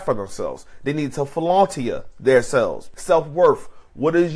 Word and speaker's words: philautia: going into two is fona self love fona is spelled p h i l a u t i a fona this is a type